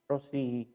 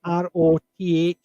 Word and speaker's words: Rothesay: Rossi is. It's basically the Glaswegian pronouncing of Rothsay. Rossi. Rossy instead of Rothesay.